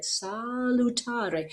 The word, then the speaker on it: salutare: next down bait salutare and the word is constructed so that the strong syllable ta is on the strong beat on the downbeat right salutare so what you would